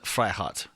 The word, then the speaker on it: Freiheit: flat in the Große Freiheit. Sorry, Americans can't help but go Freiheit Freiheit. It's probably something more aggressive. Freiheit. Freiheit. Yeah, there's no R in there.